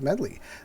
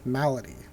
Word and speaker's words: Malady: 9/4 for grunt rooms and for templates of medley I'm sorry yeah malady I always mispronounce this I get that in temple of